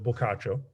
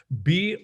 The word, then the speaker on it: Boccaccio: our our beat up many red copies of bulkacho okay so pokacho ladies and gentlemen is spelled b-o-c-c-a-c-c-i-o okay boccaccio and i'm sure that if you